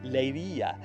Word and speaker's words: Leiria: And Leia as it's uh correctly pronounced is one wonderful city indeed.